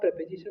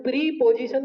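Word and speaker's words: preposition: Adverb तक आप प्रेपोजिशन आ गए। किस पे? इसका प्रोनाउंसिएशन प्रीपोजिशन नहीं होता है।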